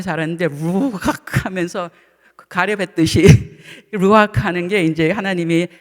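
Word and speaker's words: רוח: 창세기에서도 하나님께서 아담을 지으시고 코에 생기를 불어 놓으셨는데 이게 히브리어로 악 이게 이게 한국말려는 발음이 살았는데 루악 하면서 가렵했듯이 루악하는게 이제 하나님이 아담의 코에 생기를 불어넣으신 그것 뜻인데 숨은 우리가 숨쉬고는 못 살잖아요.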